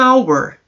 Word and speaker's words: hour: Como, por exemplo, an hour.